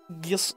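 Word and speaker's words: Gysahl: Gissel. Because it's spelled G-Y like gypsy.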